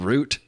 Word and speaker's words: route: feel like the oil routes and the money and the the trade routes it's crazy did I just say route and then roote did I just use two pronunciations yeah what for you